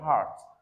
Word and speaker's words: heart: So we have heart not I have a good hurt not hurt but heart.